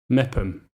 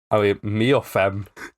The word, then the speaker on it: Meopham: M for mother. Mepham. Yeah, it is Mepham, all right.